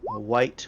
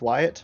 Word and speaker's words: Wyatt: So before you do get onto the ship, White will be giving you a very quick prep talk, okay? Oh, his name is pronounced Wyatt, though. It's pronounced Wyatt?